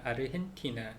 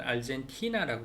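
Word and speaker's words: Argentina: 근데 gente 그래서 gente인데 이게 아르헨티나 한번 생각해 보시면 아르헨티나 근데 영어식으로 하면 알젠티나라고 그러잖아요. 젠티나라고 그러잖아요. 왜냐면 거기에 G로 이렇게 되어 있기 때문에. 근데 여기서는 원래는 이제 아르헨티나 자체가 그 스페인어를 쓰잖아요. 그러니까 거기서는 이제 아르헨티나 이렇게 발음을 하게 되는 거죠.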